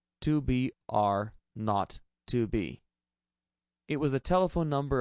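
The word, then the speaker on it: 2BR02B: The 0 on the telephone number he pronounced not. The number was 2BR not 2B.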